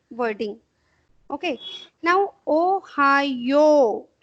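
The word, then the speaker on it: おはよう: Now, Ohayo. This you have to prolong.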